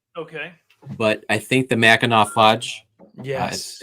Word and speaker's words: Mackinac: It's Mackinac, not Mackinac. Oh, Mackinac. What is it? How do you say it? I'm sorry. It looks like Mackinac, but it's not. It's Mackinac. Mackinac. Local colloquialism.